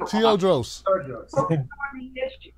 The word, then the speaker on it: Teodrose: Teodrose.